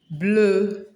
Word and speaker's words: bleu: Blue, blue, bleu. Bleu. I don't mean the blow you blow someone, just bleu. That's the pronunciation.